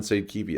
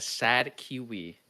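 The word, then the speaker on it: sadekivi: So we're going summon sade ki I guess. Top right. Your your Americanized pronunciation of Finnish has yet again failed you because this is a sad kiwi.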